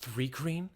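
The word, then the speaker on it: Thri-kreen: It's pronounced Thrycreen.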